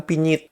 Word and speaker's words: penyet: Nah, kemudian kalau penggunaan kosakata penyet, Maledes itu seharusnya secara ejaan mereka tidak menyebutkan penyet, mereka menyebutkan pinyit. Karena huruf eho di Maledes mereka menyebutnya i.